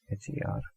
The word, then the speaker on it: hermosa: And for beautiful we have hermosa, linda, hermosa, H-E-R-M-O-S-A. But we know that H is everywhere silent in Spanish, so we are going to pronounce it as hermosa.